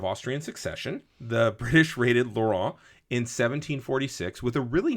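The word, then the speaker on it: Lorient: I I looked this up via the Google pronunciation guide, Lauron. Yeah. Okay. Laurent.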